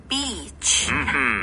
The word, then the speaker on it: beach: beach. 여기서는 이 발음을 좀 강하게 길게 해주세요.